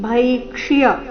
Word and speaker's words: ಭೈಕ್ಷ್ಯ: ಲೋಕೆ ಶ್ರೇಯೋ ಭೋಕ್ತುಂ ಭೈಕ್ಷ ಇಲ್ಲಿ ಭೈಕ್ಷ್ಯ ಅರ್ಧ ಅಕ್ಷರ ಪೂರ್ತಿಯ ಯ ಸ್ಪಷ್ಟವಾಗಿ ಕೇಳಿಸಬೇಕು ಅಲ್ಲ ಭೈಕ್ಷಿಯ ಎಂದು ಬರಬೇಕು ಭೈಕ್ಷಿಯಮಪಿಹ ಲೋಕೆ ಹತ್ವಾರ್ಥ ಕಾಮಸ್ತು